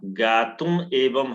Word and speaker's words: ज्ञातुमेवं: गुरुदेव यहाँ ज्ञात में वम विधम माँ का उच्चारण होगा बिंदी पर। हाँ, ज्ञातुम एवं है तो ज्ञातुम एवं।